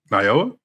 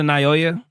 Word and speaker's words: Naoya: Can you say his name one more time please? Naoa. Who? One more time. Naoa. Okay. Okay. I couldn't tell if your tongue just wasn't working. Is it Naoya?